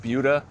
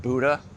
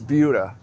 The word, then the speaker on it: Buda: a video when we talk about budha it's pronounced budha not Buddha because I really don't want you to embarrass yourselves if you start saying that you live in Buddha Texas and then look at this it's budha not Buddha I've never seen this before this